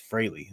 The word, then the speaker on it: Frehley: I said Ace Frehley all in high school growing up, and it wasn't until later in life that I learned it's Ace Frehley is how you pronounce the name.